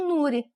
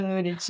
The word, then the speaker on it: Nurit: É, é porque eh é um nome hebraico, é, então é um nome estrangeiro.